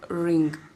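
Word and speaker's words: wring: next alphabet is w w for ring in a w silent pronounce ring out the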